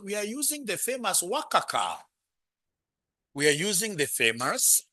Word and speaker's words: WACC: WACC is an professional way of pronouncing it, eh? Yeah, I want you to be pronouncing this as WACC.